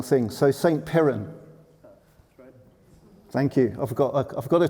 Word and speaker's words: St. Piran: So St. Piran.